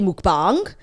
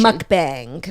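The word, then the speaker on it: 먹방: of entertainment there so however we say it we're probably mispronouncing it so I think if if you want to be like really like indigenous you could say mukbang but like the American version is like we're going harder on the wrong pronunciation mukbang that's like a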